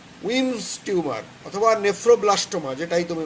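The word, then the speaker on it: Wilms: স্পেলিংয়ের সঙ্গে প্রোনাউন্সিয়েশনটা যেন ঠিক হয়, এলের উচ্চারণ হবে না। উইমস টিউমার অথবা নেফ্রোব্লাস্টোমা, যেটাই তুমি বলো না কেন, নেফ্রোব্লাস্টোমা বললে আবার জানতে চাবে এর আরেকটা নাম কি।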